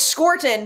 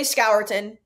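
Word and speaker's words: Scourton: how to say it it's scorton but some people say scouton some skir skiron some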